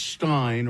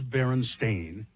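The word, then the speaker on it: Berenstain: For instance, the Baronstein Bears book being spelled and pronounced Stein or not Stain as the publishers claim, but but it is Baron Stain as he but many people remember it as Stein or Stein.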